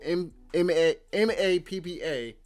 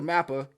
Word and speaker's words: MAPPA: same studio uh studio m a ppa i don't uh well i think it's pronounced mappa forgive me uh studio mapper those are the guys